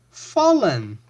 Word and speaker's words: fall: To fall, fell, fallen. Be careful here. The A sounds like O. So to fall, fell, fallen.